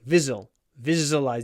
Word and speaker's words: visualize: Visualize, visualize. Just remember the pronunciation. It's a zh. Visualize. There aren't many English words with zh in them, but this is one.